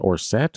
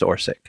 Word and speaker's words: Orsic: I was trying to, the entire episode, I'm like, is it Orset or Orsic? It's Orsic.